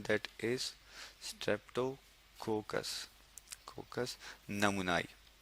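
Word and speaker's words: pneumoniae: कोकस नमुनाई, P silent है, MONI, ए के बाद ई, विच मीन्स स्ट्रेप्टोकोकस नमूनाई।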